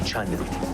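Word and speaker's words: Cheonan: It turns out that it's pronounced Chunnan. I just heard them say it on the train.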